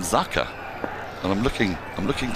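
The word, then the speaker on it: Jaker: is what is it it's spelled Jaa Ali anik but I heard his captain called him zaka and I'm looking I'm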